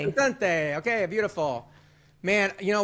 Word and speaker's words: Lucente: to ask how to pronounce your last name Lucente Luc how you pronounce it you got it Lucente Lucente okay beautiful man you know we before the